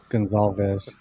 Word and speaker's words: Gonzalez: Gonzalez. Gonzalez. That's how you say it. Trust me, I got corrected on that from a friend of mine.